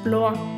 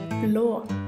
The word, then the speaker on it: blå: This is the color blue in Norway we pronounce Blue like blå we spell Blue b l o try it blå This is a color purple in Norway we